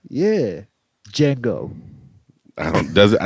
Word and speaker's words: Django: ain't no like yeah django i don't does it i never seen jack he probably got it popping and he was definitely he did he looked the d is silent all right he paused